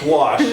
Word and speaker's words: gouache: Does anybody, you've heard of gouache, right? You guys heard of gouache? Okay, because when I go to schools, I say, it rhymes with squash, that's how you remember it.